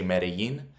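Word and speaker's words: Medellín: That's why Medellin, we say Medellin. They would say it as like Medellin. Like jean. Think of jeans, the pants.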